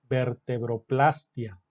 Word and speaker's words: vertebroplastia: Entonces tenemos vertebroplastia o vertebroplastia es muy común la duda de Cuál es la pronunciación según la Real Academia Española se pueden utilizar ambas pronunciaciones lo más correcto es usarlo con diptongo Sí vertebroplastia pero aunque es válido